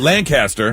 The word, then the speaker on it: Lancaster: How is that not Lancaster? It's not Lancaster. It's Lancaster. Lancaster. Is that the same thing in Pennsylvania? It's Lancaster, Pennsylvania, isn't Lancaster, Pennsylvania. But here it's Lancaster.